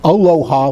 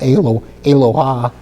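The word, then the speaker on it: אלוה: not aloha like Hawaii, but aloha.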